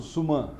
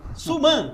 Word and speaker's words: Suman: Tá certa a pronúncia, Suman? Suman. Suman. Isso.